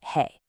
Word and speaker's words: 和: Our second key character is wa, pronounced he.